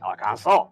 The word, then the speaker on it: Arkansas: who live in Arkansas is the French pronunciation of Arkansas, you know, like Arkansas.